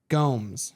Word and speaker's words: Gomes: Also, I think it's pronounced Denise Gomes. Denise Gomes. I'm like, John Anik said it, and I'm like, because I was like, I need to say this name right. I think it's Denise Gomes who is winning this as well.